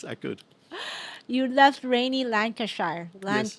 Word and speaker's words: Lancashire: You left rainy Lancashire. Yes. How do I say? Did I say it right? Lancashire, yeah. Lancashire. The ire isn't so much; it's a sh. It's Sure, like, yeah, Lancashire. like Cheshire, yeah.